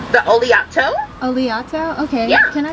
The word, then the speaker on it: Oleato: yes can I get the how do you pronounce that oletto the oleato oleato okay yeah can I go ahead and